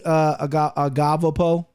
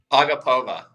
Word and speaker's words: Agapova: But give me Agavapa. Christian, how do you pronounce the name? Go ahead. Agapova. There you go. Yeah. Hey, it might be Agapova, but just go with one of those two.